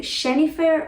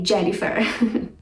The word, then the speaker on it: Jennifer: get an idea so how would you say this name is it cheney fair or jennifer please say jennifer the versus both sounds